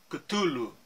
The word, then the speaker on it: Cthulhu: humanos, mas que é tradicionalmente transcrito com as sílabas Cthulhu, Cthulhu, Cthulhu.